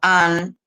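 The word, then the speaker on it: Han: Bueno, muchos se preguntan si ese tipo de histeria, por ejemplo, hay un filósofo coreano muy conocido, An, se escribe H A N, muy conocido, un importante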